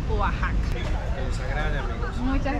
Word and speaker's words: Oaxaca: casi nada de México Yo pensé que se pronunciaba oaka pero es oajaca que les agrade amigos